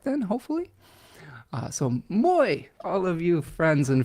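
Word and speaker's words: Moi: Like, you pronounce Moy just as it's written. Oh, good. Sounds like my pronunciation might be correct then, hopefully. So Moy, all of you friends in Finland.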